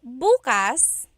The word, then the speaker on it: bukas: depending on the pronunciation if you say buas buas the emphasis is on the second syllable that means open if you say buas buas